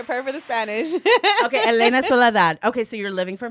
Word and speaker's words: Elena Soledad: Cousins, please welcome Elena Solidad. Applause. Yeah. Perfect for the Spanish. Okay. Elena Soladad.